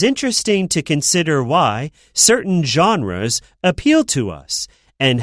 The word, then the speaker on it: genre: So a genre, careful with it, it's not like genre or whatever, right? It's not pronounced how it looks, right? It's genre, like a type, the category of music, I guess. Like there's classical, pop, these are different genres. Yeah, genre, this word comes from French.